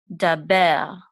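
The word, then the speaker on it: דבר: It's going to say be with a resh because the resh doesn't have its own vowel. We're going to say these together. Ber. Daber.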